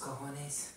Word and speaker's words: cojones: I think the word you were searching for was cojones. Cojones, yeah. It means balls. Yeah. Well, that's not how it's spelled, but I believe it.